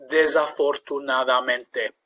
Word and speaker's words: desafortunadamente: So an example of how to break it down into syllables. Desafortunadamente. Now, of course, that might sound strange saying it like that, but by breaking it down into those syllables first, you can then gradually repeat it and build up speed and confidence.